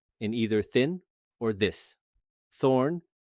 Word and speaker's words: þ: Thorn, written þ, came instead from the older Germanic runic alphabet and was used interchangeably with eth.